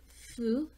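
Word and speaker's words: ふ: gonna be ha T but instead of hoop we're gonna actually pronounce it foo then Hey okay so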